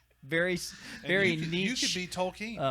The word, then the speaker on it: Tolkien: could be Tolkien. Tolkien? How do you pronounce it?